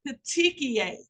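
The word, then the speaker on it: petechiae: edema fluid in the tissue next one is pronounced peti P te c h i AE I know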